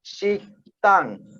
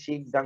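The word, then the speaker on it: 식당: আচ্ছা, এখানে দেখছি শব্দকোষ বা শব্দ তালিকা শিকতাং, এটা যদিও লেখা আছে শিকদাং, উচ্চারণ হবে শিকতাং, অত রেস্টুরেন্ট।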